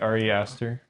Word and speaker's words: Ari Aster: And I forget his Ari Aster.